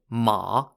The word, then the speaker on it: ma: of the shang pieces are two pieces called ma spelt m a ma means horse in chinese